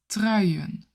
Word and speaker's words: trui: And in plural, de truien. De truien. The word trui is sweater in English. This word also slightly has a J sound. Trui. It's not trui. Not with the W sound at the end, but with the J sound at the end.